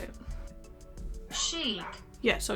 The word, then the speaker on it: chic: because i don't know how to say it chic yeah so it's chic kimchi beauty all right